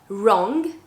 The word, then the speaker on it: wrong: So when you have the W plus R, then you're just pronouncing the R, or with the word whole, the WH, then you have another example, whole.